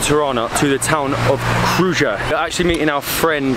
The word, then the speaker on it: Krujë: Krujë, yeah, we pronounce it Krujë. In fact, it's K-R-U-J-A. The J is silent.